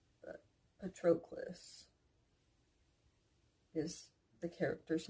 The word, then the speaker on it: Patroclus: if that makes sense so we went from petropolis a petroquis patroclus I find out the name